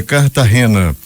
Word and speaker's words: Cartagena: echeverri o Timo tinco a pronúncia correta é cartar Rena o acordo deverá ser